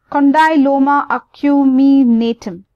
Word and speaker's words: condyloma acuminatum: humne Natan okay so this is how you would pronounce it condyloma ik you me Natan right so this is